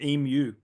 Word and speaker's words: emu: Um, we don't call it an emu. That's that's not that's not our pronunciation. Our pronunciation is emu. Oh, emu. Yes. So, think like almost Yeah. Think e and then u.